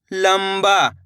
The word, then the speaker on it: लंबा: लंबा, तो मिलकर बन जाएगा लंबा। इस शब्द के अंदर भी अपन ने आधा माँ का उच्चारण करा है।